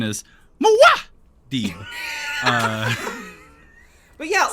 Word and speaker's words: Muad'Dib: The pronunciation is Muad'Dib.